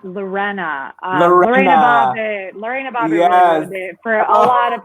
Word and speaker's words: Lorena: the inspiration yeah um also my name is pronounced lorena um for a lot of people that um